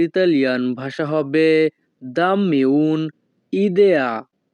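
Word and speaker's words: idea: একটা বুদ্ধি দাও এই বাক্যের ইতালিয়ান ভাষা হবে দাম্মি উন ইদেয়া। এখানে আই এর উচ্চারণ হবে ই।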